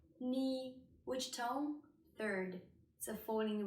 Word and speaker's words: 你: so it's a falling rising tone war war knee knee which tone third so falling rising term again